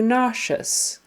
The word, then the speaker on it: nauseous: nauseous so nous and it's again the accent is on the first syllable nous so nazia nauseous sh sh in the middle sound of nauseous is that sh sh sound even though it is spelled with just an s e o s so nazia you have